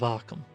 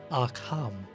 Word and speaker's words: Arkham: port town north of arkham you see i'm very much aware that some people in my presence have said are calm which is very very wrong no matter where you're